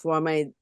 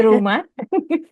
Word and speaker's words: Roemah: Budshi, let me introduce yourself a little bit, but you are the executive director of Roemah Inspirit. Please, after you can correct my pronunciation. It's Roemah.